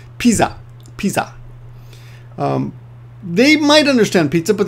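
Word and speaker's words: ピザ: Okay, so first of all, we've got to be careful about the word pizza, because pizza in Japanese is not pizza, it's piza.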